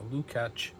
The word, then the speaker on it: Lukács: I have Slovak relatives, and usually the C is pronounced like a CH or a CK. So Lukács.